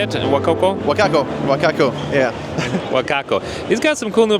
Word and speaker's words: Wacaco: how you say it woko wakako wakako yeah wakako he's got some cool new products he's going